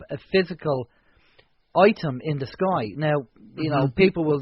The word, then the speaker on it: Skyaia: a i a basically it comes from two different terms sky sky everything in the universe and Cosmos and then Gaia as in mother Gaia